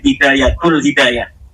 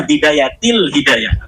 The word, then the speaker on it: Bidayatil Hidayah: Kenapa ada huruf jer B katanya dibacanya bidayatul hidayah? Harusnya bidayatil hidayah.